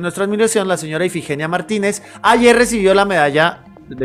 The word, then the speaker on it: Martínez: Efectivamente, sí, Martínez, hombre.